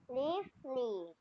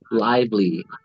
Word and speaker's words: lively: the first one just the top one peaceful Lely Lely so you actually that's pronounced live Lively so they're supposed to be pronounced they're pronounced